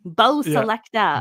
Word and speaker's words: Bo Selecta: Selector is S-E-L-E-C-T-A. Selecta. Okay. Bo Selecta. Okay. Bo Selector.